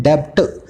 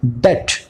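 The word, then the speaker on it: debt: आप इसको बोलते हैं डेप्ट। डेप्ट, इसमें बी है ना, साइलेंट होता है एक्चुअल में। आप डेप्ट बोलते हैं तो गलत बोलते हैं, इसको बोला जाता है डेट।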